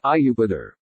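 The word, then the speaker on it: Iuppiter: appears in Jupiter or as Romans would have said IU pa'dar it would be pronounced like you Pete err so IU pa'dar he's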